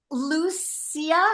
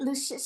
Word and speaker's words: Lucius: And then Lucia, how do you say it? Lucius.